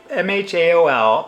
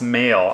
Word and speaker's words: M(h)aol: to say it so ma mhaol pronounce male I believe and then the album